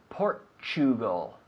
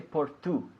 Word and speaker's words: Portugal: pronunciation because we say Portugal we don't say por Tu we say Portugal like the word picture right or mature the t u sound choo choo Portugal Portugal so at